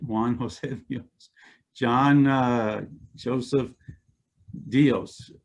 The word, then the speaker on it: Dios: juan josephios john joseph dios dios is actually in spanish pronounced dios and it means god and he was a